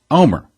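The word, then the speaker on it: Olmert: On April 6th, Omer, spelling O-L-M-E-R-T, but pronounced Omer, was officially asked by President Moshe Katsav to form a government.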